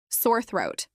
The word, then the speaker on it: sore throat: Sore throat. This is pronounced with sore rhyming with more, and throat, having the th sound.